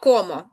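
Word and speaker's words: cómo: Це я їм йо комо. Угу. А якщо у нас з наголосом? Комо теж комо. Бачите, тут навіть не змінилася вимова. Воно і так туди падає за правилом.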